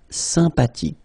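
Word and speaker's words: sympathique: Remember the ash h is not pronounced sympatic.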